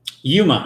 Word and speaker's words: Yuma: Yuma.